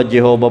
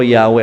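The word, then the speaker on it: Yahweh: four letter y h minsan ang basa iba ay yahwe minsan pinipilit ng iba Jehova basa pero yahwe ang basa Anyway regardless kung ano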